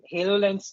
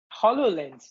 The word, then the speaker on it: HoloLens: can hand tracking in Halo lens too hololens too we've been mispronouncing it all this time yeah because the game Halo yeah it's a Microsoft hololens yeah hololens 2 provides instinctual